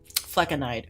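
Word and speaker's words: flecainide: Fleckenide. Okay, fine. Thank you. Thank you. Now I know. Fleckenide.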